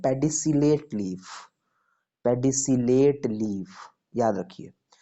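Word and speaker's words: pedicellate: चलो spelling, SESSILE, sessile. Okay, पेडिसिलेट, PEDICILLATE, पेडिसिलेट।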